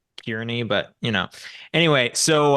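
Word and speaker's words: Kearney: uh a circus yeah it's carne it's spelled k a r NE y yeah so it's really kiery but you know anyway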